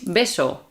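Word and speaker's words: beso: sound so for example if you see the word v a s o and b e s o the first one is baso and the second one is besso baso we don't make a distinction between B and V yeah yeah mhm I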